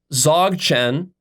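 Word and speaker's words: Dzogchen: lots of great stuff Zog Chen which is spelled d z o Chen Z Chen it's a sort of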